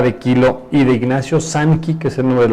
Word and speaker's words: Sanki: Sanki se escribe S-A-N de niño, K de kilo, I de Ignacio. Sanki, que es el nombre de la empresa, que